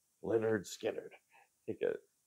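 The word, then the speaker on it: Lynyrd Skynyrd: right I have the debut from Leonard Skynyrd pronounced Leonard Skynyrd I think a not a great album title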